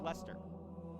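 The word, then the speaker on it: Leicester: it'll blow your mind l-e-i-c-e-s-t-e-r that's pronounced lester h-a-v-e-r-h-i-l-l is pronounced behavioral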